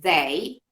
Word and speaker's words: they: Para diferenciarlo del they, la palabra día es day. La D, la lengua queda dentro, ¿sí? Sí, No sale, ¿sí?